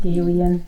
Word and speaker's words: Galilean: How was supposed to pronounce it? Galilean.